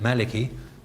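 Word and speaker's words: مالك: got your pronunciation merely if you want to say maliki you just as it will ignore that but your teacher says malik or maliki so you can say maliki and you can write it that way or you can say maliki and you can use exactly the same rosam exactly the same skeleton but you're putting in that dagger alif there to indicate the pronunciation now elsewhere in the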